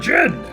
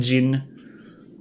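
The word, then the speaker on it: jinn: But now I realize it's because gin, the drink, and gin, the alternate pronunciation for genie. I think it's the more correct pronunciation, gin.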